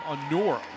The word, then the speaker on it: Anora: Looking at a correction, by the way, it's Janet's Anora, freshman from Bulmont. The pronunciation of her last name, Anora.